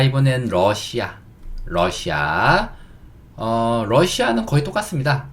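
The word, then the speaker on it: Russia: 약간 여기에 강세만 살짝 넣어주면 똑같습니다. 러시아.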